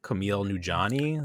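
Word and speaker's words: Kumail Nanjiani: may may happen yes mayhaps um we saw camille nujani is that how you say his name yes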